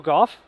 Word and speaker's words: Gough: go Michael C yeah it's like you know in the English Lang there are like five ways you can pronounce o u g h there's and this one is like cough with a G now hopefully you don't